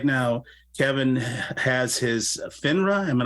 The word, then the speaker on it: FINRA: And so right now, Kevin has his FINRA. Am I not pronouncing that correctly?